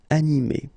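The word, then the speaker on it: animée: But then the thing is that you don't pronounce it. So phonetically, you will get exactly the same form. So masculine form, animé, and then the feminine form, animé. Okay, you don't pronounce this e, but then you should write it.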